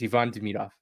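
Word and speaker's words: Ivan Demidov: I got I I I got yelled at for calling him Ivon.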